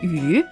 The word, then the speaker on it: 鱼: And people would serve fish as a dish on the, I don't know, New Year dinner table because fish also is pronounced 鱼.